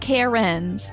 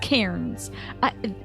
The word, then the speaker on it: Cairns: No, not Karens. Cairns.